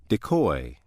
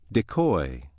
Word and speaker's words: decoy: If word six is being used as a verb meaning to lure into a trap, it is pronounced decoy. Decoy.